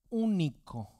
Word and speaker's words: único: Para demostrar el amor único lleva acento en la U, único hacia un hijo.